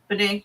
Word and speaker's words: Bonet: Or Bonnet, however it's pronounced. Bonet. No, you're right. Bonet.